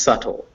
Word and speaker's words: subtle: whether or not it's even pronounced but it's pronounced subtle some people would write it just with an